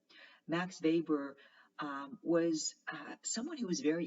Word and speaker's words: Weber: still very relevant today weber it's pronounced with the v because he was german max weber was someone who was